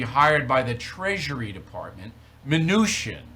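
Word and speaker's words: Mnuchin: by the Treasury Department manoosh in right that's that's how you say his name venusian right the Charter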